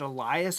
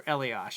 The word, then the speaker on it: Elias: was from, I don't, is it Elias or Eliash? I always pronounced it Eliash because that's how the hockey player pronounced it, but it might be Elias.